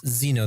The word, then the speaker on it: Zeno: when you build Zeno is its Zeno that's pronounced right yes yeah when you start